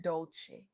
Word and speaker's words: Dolce: The soft girl era podcast hosted by Leanne Dolce, pronounced dolce, like sweet softness whispered in French, explores this very journey.